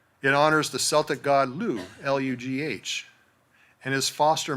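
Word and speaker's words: Lugh: It honors the Celtic god, Lou, Lu Gh, and his foster mother, Tai E Tu, T A Tiu.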